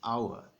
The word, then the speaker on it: hour: from specially in Nigeria the main reason where you have an hour and not a hour is because this H is silent it's not part of